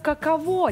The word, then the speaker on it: каково: Не, подожди, я так понимаю, хотели написать как каково, типа, как каково. Но с ударением на последний слог, а не какого.